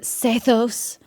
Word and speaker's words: Sethos: I want to do sethos I know they pronounce it seos but whatever um no